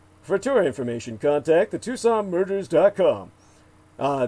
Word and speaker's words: Tucson: tour information contact the Tucson murders. uh that's Tucson spelled like tuxen to the o n put the word the